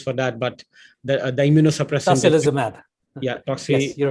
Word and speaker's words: Tocilizumab: I'm not able to pronounce it well. Apologies for that. But the immunosuppressant. Tocilizumab. Yeah, Toxi. Yes, you're right. Tocilizumab.